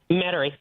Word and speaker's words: Metairie: I never pronounce it correctly. Metairie is where a lot of my family reside. Metairie.